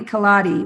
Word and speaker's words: Kolodij: With Natalie Kaladi, which is spelled kind of funny. It's spelled Kolodij is our friend Natalie's.